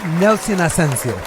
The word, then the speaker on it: Ascencio: Nelson Ascencio. Yes, perfect. Wow, see? I've had so many people mispronounce it.